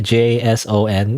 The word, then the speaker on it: JSON: replace the JSON file, which do you pronounce this JSON by the way? JSON? That just makes me think of Jason, right? So that's the how you supposed to say it.